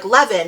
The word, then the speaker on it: Levan: the characters names and she's like Levan and then in parenthesis she goes rhymes with Heaven which I thought was